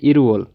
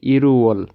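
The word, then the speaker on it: 일월: এই যে রিউলটা আছে ওইটা এই ইয়ংয়ের স্থানে চলে যাবে, আর এটার উচ্চারণ হবে ইরুওল। রিউল বাচিমের পরে যদি ইয়ং থাকে তাহলে রিউলটা ইয়ংয়ের স্থানে চলে যাবে, আর এটার উচ্চারণ হবে ইরুওল।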